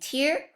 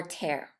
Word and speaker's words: tear: So remember, although they are spelled the same, they have different meaning and different pronunciation. So watch out when you are saying tear or tear.